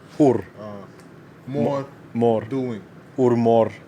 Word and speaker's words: hur: Hej, hur mår du? Hej, hur mår du? Hey, hur mår du? Exactly. Like who bites you? Hur is like Hur. how. Hur.